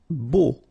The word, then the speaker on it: beau: Beau. Okay, so remember, we've got this strange combination of vowels. E, A, U, so three vowels, but then phonetically it's only O. Okay, so beau.